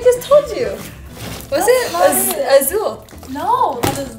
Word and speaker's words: azul: Wait, Alexa, how do you say blue in it's Spanish? It's azul. And verde is green. Blue in Spanish is azul. Oh. Azul. Yeah, you didn't say it right.